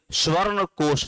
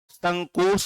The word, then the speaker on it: संकोश: स्वर्ण कोष नदी। लेकिन प्रोनाउंसिएशन चेंज हो गया, अब इसको क्या कह दिए? संकोच कह दिए।